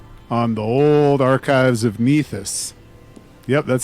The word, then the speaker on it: Nethys: Oh, I'm using the travel speed from the core rulebook on the old archives of Nethys. Yep, that's how it's pronounced. Definitely not Nethys.